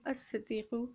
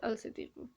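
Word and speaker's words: الصديق: So it's going to be as-siddiqu and not al-siddiqu. Once again, those who know Urdu make this mistake a lot. Okay, they always say al-siddiqu and not as-siddiqu.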